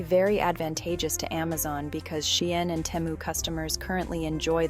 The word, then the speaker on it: Shein: Yes, Shein is pronounced Shein and not Sheen.